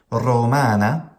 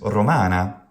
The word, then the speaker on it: Romana: Good Latin pronunciation retains the long vowel. It retains the long syllable.